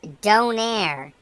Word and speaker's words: Donair: Don and once again another food item he mispronounces it is Donaire in 2015 he did